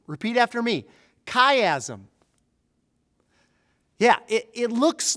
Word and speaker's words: chiasm: teach you a new word the word is caym repeat after me kaym yeah it it looks like chiasm but it's pronounced kaym like the name of our friend